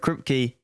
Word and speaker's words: Kripke: And additionally, the creator of The Boys, Eric Kripke, or at least I'm pretty sure that's how you say it, has made a few statements on The Boys recently.